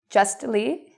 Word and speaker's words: justly: So if you see S-T-L, F-T-L, these are signs that you usually pronounce the T. What are some examples? Well, you can pronounce the T. Lastly, you could also say lastly. It's okay either way. Justly, mostly, softly. You can say it with or without, depending on where you're from.